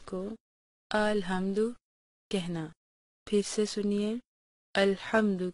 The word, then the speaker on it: الحمد: نے اسے 4 حصوں میں تقسیم کیا ہے۔ الحمد کہنے میں عام طور پر ایک غلطی یہ